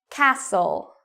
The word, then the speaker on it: castle: Castle. Castle. Fasten. Fasten. Okay, last one. Moisten. Moisten. So even though you see T-E-N, T-L-E, T-E-N, you do not pronounce the T in these words.